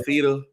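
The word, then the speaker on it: Fifita: Noah Fafita. Yeah, that's how you pronounce it.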